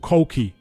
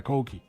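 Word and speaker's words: Coki: So I'm going to call him Koki.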